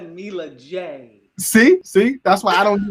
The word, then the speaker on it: Mila J: See, I'm not even going to try to pronounce the name Malahaje. That's Mila J.